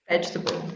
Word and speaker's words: vegetable: difficult vegetable vegetables because most people put too many syllables in it yeah comfortable yeah i i feel like uh the word table just ruined everything for us because people they they try to say vegeta because of table they try to say